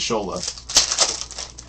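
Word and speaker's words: Asshole: you want someone named her kid but they pronounce it as Shola for the Padres Robert Gasser hidden gems Padres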